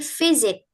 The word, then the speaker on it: visit: Kemudian di sini visit s-nya itu diganti seperti Z. Visit ya not visit tapi visit.